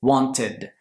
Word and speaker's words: wanted: sonido T o D, tenemos que añadir una sílaba extra. Esta sílaba extra va a ser ed. Si quiero decir querer, want, en el pasado, tengo que decir wanted.